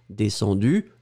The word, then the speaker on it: descendu: On ne le prononce pas. Descendu, U ou UE, ce sera phonétiquement la même chose.